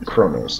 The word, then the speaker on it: Kronos: So, I'd like to take a tour of the first city of Kronos, or Kronos, as it's properly pronounced.